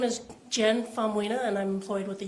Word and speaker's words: Faumuina: Yes, my name is Jen Faumunia, and I'm employed with the Utah Department of Public Safety.